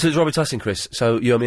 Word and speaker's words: Robitussin: father invented Robitussin, and the correct way to pronounce it is Robitussin.